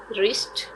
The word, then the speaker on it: wrist: castle t is silent wrist w is silent sword w is silent